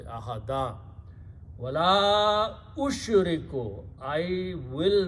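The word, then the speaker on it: وَلَا أُشْرِكُ: Also because you have a hamza here, and this alif of la, because of hamza, should have a mad in the pronunciation. So you have to stretch wala ushriku.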